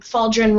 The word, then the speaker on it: Faldren: our next guy and faldrin rhymes with cauldron then uh rats go